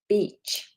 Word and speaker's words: beach: So, we don't want I, we want e. So, really extend that sound.